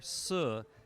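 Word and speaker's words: 四: is that in Chinese the pronunciation of the word for for su sounds very much like the word for death so that's why in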